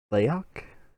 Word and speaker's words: Layok: I look at Layok, is how you pronounce Red's character, right?